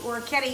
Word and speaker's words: orecchiette: It's at this point now you want to put your macaroni, your orecchiette, you said it right, in the bowl, in the pot that you cooked that you blanched your broccoli rabe in, okay?